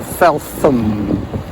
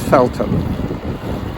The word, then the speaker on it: Felton: here and and down Felton or falam as some people pronounce it but in English it's Felton Canadian or American falum